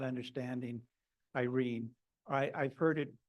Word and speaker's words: Irene: that MacDonald knew that Irene is the Greek word for peace. So that might have played a factor. And that has three syllables, or three pronounced syllables.